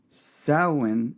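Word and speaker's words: Samhain: Sin. It's spelled Sam Hayne, but you do not say it that way.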